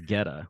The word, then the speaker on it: Goetta: Geta, and it's pronounced Geta.